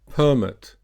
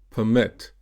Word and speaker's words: permit: The noun form here is permit, and the verb permit.